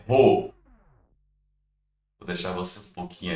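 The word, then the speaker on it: ρ: letrinha grega aqui ó a pronúncia dela é ro vou deixar você um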